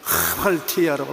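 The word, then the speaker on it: ἁμαρτία: 이 히읗자 발음에 액센트를 많이 줘서 하말티아라고 말합니다.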